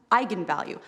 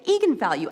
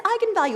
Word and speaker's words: eigenvalue: came out because apparently it's pronounced eigenvalue that's how you're supposed to say I'm the director don't bleep me the fing director told me to say egon value and it's eigenvalue and the whole internet